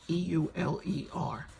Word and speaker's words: Euler: That e is called the Euler constant, E-U-L-E-R. It's named after the famous Swiss mathematician Leonhard Euler. Don't ask me why that's pronounced Euler.